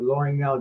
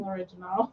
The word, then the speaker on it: L'Orignal: Well, we're investigating the L'Orignal jail on the 16th. Oh, that's how you say it. I was saying l'original.